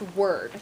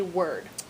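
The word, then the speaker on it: -ward: And I know it's spelled W-A-R-D, but it's pronounced word. Could you say word?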